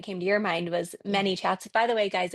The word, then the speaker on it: ManyChat: to your mind was ManyChat. By the way guys, it's m a n y for a long time I thought it was mini like small m i n i.